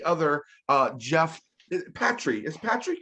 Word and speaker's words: Patry: don't know any other uh Jeff Patrick is Patrick correct it's Patrick yes it is thank you for pronouncing it correctly you did Jeff we appreciate